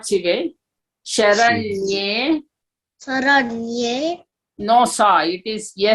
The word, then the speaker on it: शरण्ये: Sharanye. शरण्ये No sa. It is yes. There is slant on top of that. Okay. Yes. Sharanye. शरण्ये Don't say sa. It is sha.